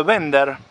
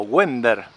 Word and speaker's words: Wender: Perteneció a la familia Bender, Darío Bender, o Wender, si lo quieren como se escribe.